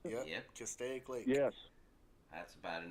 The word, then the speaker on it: Castaic: Castaic Is that Lake. how you pronounce it? Yep. Castaic Lake.